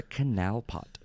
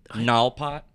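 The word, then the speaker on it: knalpot: K-N, it's the K is silent, like knife, no, null pot.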